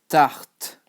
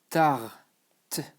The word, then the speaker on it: tarte: So pie in French is tarte. Okay? Tarte. So don't forget, you don't pronounce the E.